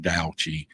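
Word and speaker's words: Tao: read this a lot right or da even though it's spelled ta o but Dai um and one just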